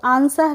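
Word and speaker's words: answer: डब् silent होता है जब भी एस के बाद डब्लू आता है तो क्या होता है डब्लू साइलेंट होता है जैसे ए एन एस डब्लू ई आर तो आंसर है इसको हम आंसर पढ़ेंगे इसको हम डब्लू का प्रोनंसिएशन नहीं करते हैं आंसर नहीं पढ़ते हैं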